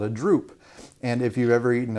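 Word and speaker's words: drupe: to talk about is called a droop but it's not spelled like the saggy kind of drink d-r-u-p-e so if you think about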